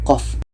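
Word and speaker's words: ق: sini huruf fawati khosuar jadi bacanya bukan hanya Koh tapi mengikut ejaan huruf hijaiyah ini ejaannya adalah qof panjangnya 6 harkat contoh seterusnya dalam ayat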